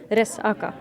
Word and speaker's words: resaca: So you stop in the middle. Resaka. Yes, you put the emphasis on the middle syllable.